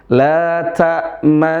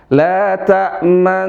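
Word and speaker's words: لَا تَأْمَنَّا: Nah, cara bacanya di sini didomahkan. Isyarat domah. Tapi bunyinya fathah. Isyaratnya aja domah. Isyaratnya aja mengisyaratkan domah. Bagaimana isyarat domah itu? Memonyongkan dua bibir. Nah, jadi cara bacanya coba perhatikan. La ta'manna ala Yusuf. La ta'manna ala Yusuf.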